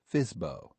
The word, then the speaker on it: FSBO: Properties listed as for sale by owner, or FSBO, pronounced FISBO.